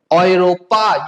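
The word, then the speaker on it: Europa: Okay, next E एंड यू अगर साथ में रहेगा तो उसका प्रोनाउंसिएशन क्या होगा? ऑय। ओके, जैसे ऑयरो। ठीक है, क्या बोला जाता है? ऑयरो। ओके ओके, ऑयरोपा, यूरोप को क्या बोला जाता है? ऑयरोपा।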